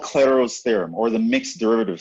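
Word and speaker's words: Clairaut: the mixed derivative theorem it's usually called Claro's theorem the T is silent it's another French mathematician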